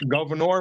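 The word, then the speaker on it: Gouverneur: St Lawrence River or just type in Governor it's how it's pronounce Governor Morris he he wrote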